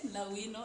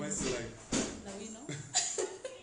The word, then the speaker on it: La'wino: It's La Wino signing up. You already know. Okay, so that's our very own outspoken Lawino and Lawino. And kindly don't mispronounce my name. It's La Wino. La Wino.